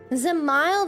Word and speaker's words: Zamile: Zamile. That's how you say it.